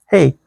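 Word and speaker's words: Hej: So, when I say, "Hey," that's hello to you. H E J, that's how you spell it. Not hay like you're a farmer going out there in the field of bail up the hay.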